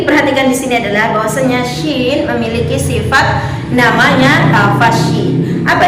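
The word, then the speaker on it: شين: Bukan hanya sin besar, terkenal pula dengan sebutan cuin. Padahal itu adalah suatu kesalahan yang tidak disadari. Maka dari itu mari kita sama-sama meluruskan bacaan huruf shin, tempat keluarnya huruf shin, serta pelafalan-pelafalannya.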